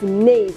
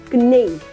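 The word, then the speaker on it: knave: this one very nice we pronounce it as Nave and not canave and the last one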